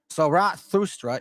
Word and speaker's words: Zarathustra: Zarathustra is the best approximate on how to pronounce his name.